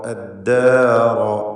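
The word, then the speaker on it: الدار: തബവ്വഉദ്ദാറ അദ്ദാറ റാഇന് തഫ്ഖീമാണ്, മറ്റക്ഷരങ്ങൾക്ക് തഫ്ഖീമില്ല. ദ എന്ന ചരിച്ചുകൊണ്ട് അല്ലെങ്കിൽ തർക്കീഖോട് കൂടിയുള്ള ഉച്ചാരണമാണ് വേണ്ടത്. റാഇനാണ് തഫ്ഖീമുള്ളത്. അപ്പോൾ അദ്ദാറ റ എന്ന് തടിപ്പിച്ച ശബ്ദം.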